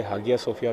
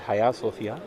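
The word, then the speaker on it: Hagia Sophia: इस बिल्डिंग के, जिसे हम हाया सोफिया कहते हैं, लोग इसे हागिया सोफिया भी पढ़ते हैं, हाजिया सोफिया भी पढ़ते हैं, बट the actual pronunciation is हाया सोफिया।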